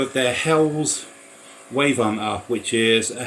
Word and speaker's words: Helles: So, so a Hell's Laggera or Hela's how it's pronounced.